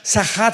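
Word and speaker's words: שחת: Esta palabra corromper es la palabra hebrea sachat. Sahat con s de Samuel y ch. Sachat. Sahat se pronuncia, que significa corrupción moral.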